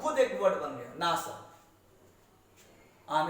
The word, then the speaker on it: NASA: अब खुद एक वर्ड बन गया नासा।